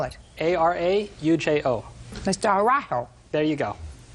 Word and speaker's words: Araujo: Araujo. Slower. Araujo. Spell it. A-R-A-U-J-O.